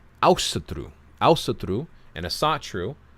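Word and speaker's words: Ásatrú: Asatru is not an English word. It's not an ancient word. It's nothing. It's a modern Icelandic word pronounced with an English accent.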